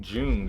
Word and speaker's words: Jung: but it might be because you were saying june and i was like who is that i've never heard before i might just be pronouncing it wrong a young archetype yes that actually might be the way to say it because they actually mentioned carl jung in that same paper um the obvious powersheer